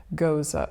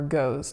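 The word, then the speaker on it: Gose: North American beer market, which is Goza or Goes, depending on how you are reading it or pronouncing it.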